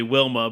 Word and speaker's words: Wilma: and Vilma was actually Wilma, but the W is pronounced as a V.